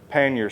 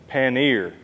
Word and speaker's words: pannier: rear paner set now some of you are probably saying Blake that is supposed to be paner and there's several different ways that people pronounce it but I did do a little digging and research and this is like a French word that they use for these boxes here or storage racks or